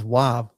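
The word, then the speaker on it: ו: It also has two possible pronunciations. Um the W here is in way or a V as as in vine.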